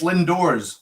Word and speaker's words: Lindores: It's Lindores. Yeah, you're okay. Yeah. I've been saying Lindores all this time.